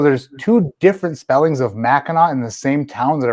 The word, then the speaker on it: Mackinac: to whatever you have to say it's a mackinack you're trying to screw with the the drunk